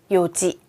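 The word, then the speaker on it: 四時: 네시 보니까 어떻게 읽나요 요지 맞습니다시는 원래 4는 이용이 아아 그리고는예요 그런데 요게 탈락돼 요지라고 해요 한국어에서도 하나 둘 셋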